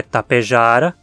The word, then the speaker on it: Tapejara: localização da sílaba tônica como a pronúncia original é Tapejara Tapejara vai ser a pronúncia latim científico e aqui o último